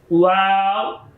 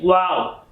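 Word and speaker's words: و: Next letter is wow. Wow. When you are looking a beautiful thing, so you sing in English language wow. Same sounds, but this is a little bit longer sound. Wow.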